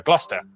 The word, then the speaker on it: Gloucester: Cester is pronounced stir. Leicester, Worcester, Gloucester.